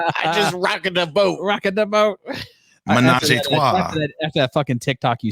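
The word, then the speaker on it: ménage à trois: cruise ship was sparked by jealousy over a menage a trois, according to report. Hold on, my man pronounced menage a trois, but fucked up rocked.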